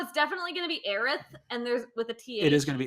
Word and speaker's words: Aerith: be- It says here's the Aerith thing. in the trailer. There's going to be Yeah. a joke like midway through the game where someone mispronounces her name as Eris, and Oh, I guarantee they're it.